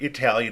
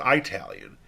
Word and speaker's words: Italian: However, if you ever heard someone pronounce the word Italian as Italian, even though the phonemes for the short vowel I and the diphthong AI sound different, the difference